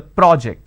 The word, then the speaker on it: project: there is a change in terms of the vowel sound as well when i say project i'm using per and or project when i say project i'm using per o so when i have project it's an aw sound when i have project i have an o sound but the bigger aspect